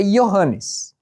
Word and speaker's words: Johannes: Eu sei pronunciar em grego. Em grego é Johannes, como foi escrito, como Lucas escreveu, é Johannes.